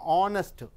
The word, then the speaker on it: honest: ஏன் யூஸ் பண்ணுறீங்கன்னா ஆனஸ்ட் அது வந்து ஓலிருந்து தான் உச்சரிக்கப்படுகிறது.